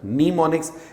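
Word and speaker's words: mnemonics: इसको नीमोनिक्स कहा जाता है, नीमोनिक्स। इसमें एम साइलेंट है, आप सिर्फ नीमोनिक्स पढ़ेंगे इसको।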